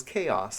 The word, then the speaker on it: Chaos: my ESL teacher, like, "Hey, how do you pronounce this?" She said, "Oh, it's Chouse." And no, it was not Chouse. It was Chaos.